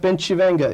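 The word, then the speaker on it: Bencivenga: Bensivenga. It means actually pronounced Benchivenga. It means in Italian, good things will come to us.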